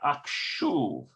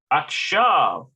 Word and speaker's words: עכשיו: Okay, it's not akshuv, it's something else. עכשיו. Akshav. Akshav. עכשיו. Okay, it means now. So what are you doing? What are the children doing now? Hayeladim. Ma hayeladim akshav.